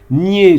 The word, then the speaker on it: niais: Niais, soyez heureux, niais au singulier comme au pluriel s'écrit pareil, mais dans les deux cas, il y a une consonne muette qu'on ne trouve qu'en passant par le féminin, niaise.